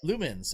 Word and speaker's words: Lumines: And then I picked up, and I'm probably gonna mispronounce this, Lumines? How do you pronounce that game? I don't know. Oh, Lumens. Okay, thank you. That's how I pronounce it.